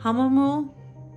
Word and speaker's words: Hahnemühle: I will say real quick out the gate, people say Hahnemühle. I looked up like a bazillion different German videos of them pronouncing the paper. They say Hahnemühle, something very close to that without my little German accent sound.